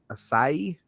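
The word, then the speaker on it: açaí: the blueberry acai, and that's Kudos to you for pronouncing acai right.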